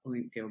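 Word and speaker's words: Blomfild: double t y uh blingfield but it's spelled b-l-o-m-f-i-l-d we've got a youtube channel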